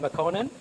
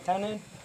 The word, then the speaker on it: Makonnen: name is Makonnen and some people have a hard time to pronounce Makonnen they say to me Connie is it fine some your Irish friend is as easy for them to say mccannon so you can call me whichever way works mccannon Makonnen that works